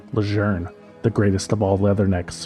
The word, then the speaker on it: Lejeune: Most people tend to call it Camp Lun, but the pronunciation of the general's name is actually Leger instead of Lun.